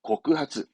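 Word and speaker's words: 告発: 발음은 그렇죠. 고크하츠.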